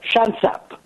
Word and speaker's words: Shansab: Is that how to say it, by the way? Shansab. Just make it simpler, Shansab.